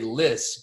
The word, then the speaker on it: Lys: I say Lys, but some people would say Lys, and that would be just as correct.